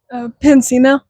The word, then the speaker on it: Piancino: Piancino.